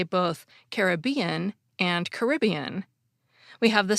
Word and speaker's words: Caribbean: from looking at references dictionaries lists both pronunciations is acceptable and there are actually even more than those too a 2010 book on pronunciation says that Caribbean is more common among British speakers and Caribbean is more common among American speakers but my reading of